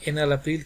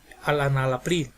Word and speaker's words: enalapril: Si está tomando enalapril, que no diga alanalapril.